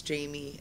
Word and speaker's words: Jaime: jme n d r e WS so it's Jamie it seemed like a really good